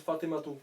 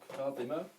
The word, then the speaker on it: Fatima: j'ai eux ils disent fatimato parce que en fait ils prononcent toutes les voyelles donc Fatima nous en arabe on prononce pas le la dernière voyelle donc on dit Fatima